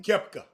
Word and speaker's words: Koepka: Your guy Brooks how you pronounce his last name? Koepka.